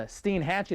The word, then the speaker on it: Steinhatchee: Really, much of western Florida, the Panhandle, over towards, and we're actually from the Steinhatchee, that's how you pronounce this river, over towards Pearl River, very close to New Orleans.